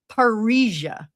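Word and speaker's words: parrhesia: Parisia also sounds like Paris, but that's not how it's spelled.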